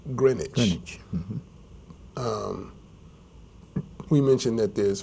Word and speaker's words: Greenwich: was named after the green witch but it's pronounced Greenwich um we mentioned that there's father demo Square